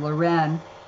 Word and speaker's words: Leuren: Mine is the French pronunciation, Leuren, and his is the Dutch pronunciation, Laurence.